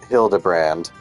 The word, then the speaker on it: Hildebrand: It's pronounced Hildebrand. Well, however you say it, he was nowhere to be found.